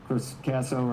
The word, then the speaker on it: Casso: Casso rhymes with Ted Lasso.